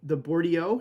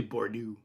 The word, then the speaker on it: Bordeaux: Thoughts or questions about the Bourdieu here? It's really Bordeaux. It's probably the way I'm supposed to pronounce that.